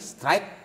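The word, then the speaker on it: Struick: Rafael Strike. Ya, betul. Saya meyakini seperti itu. Walaupun dia belum cetak gol. Bacanya emang strike, Bang. Enggak tahu siapa ya namanya? Rafael. Strike. Strike. Rata-rata dibaca seperti itu.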